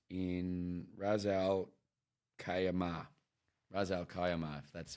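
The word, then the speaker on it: Ras al-Khaimah: what it's called it's in Rozelle Khayyam ah Ra's al Kaiama that's how you pronounce it I don't know yeah check that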